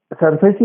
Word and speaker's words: SARFAESI: It is spelled SARFAESI. SURFACE.